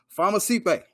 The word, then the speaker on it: Famusipe: my guest the one the only mr farmer sipe what's happening brother what's going on you are two for two you pronounce my last name right absolutely man like